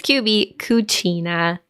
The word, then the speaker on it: QB Cucina: So it's QB Cucina, which is the Italian pronunciation.